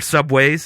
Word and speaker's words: Subway: obnoxious it's it's like it's not Subways it's just Subway you see do you see an S at the end Dum why would it